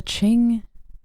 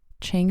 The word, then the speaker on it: Qing: of so the Qing. Oh my God, I hope I'm saying it right. Qing. It's not Qin, right? Qing dynasty. They were a Manchurian Which one?